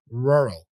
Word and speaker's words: rural: can be really complicated many nonnative speakers tend to soften or omit the r in the middle of the word making a sound closer to oo or something like that so try to pronounce both RS with this curl the tongue you know this ER